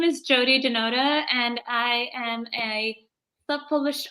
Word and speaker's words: Jiyoti Dhanota: My name is Caroline, and my today's guest is Jiyoti Danota, and I hope I pronounced it right. Please help me. Yes. Hi, my name is Jiyoti Dhanota, and I am a self-published author with 11 books already out.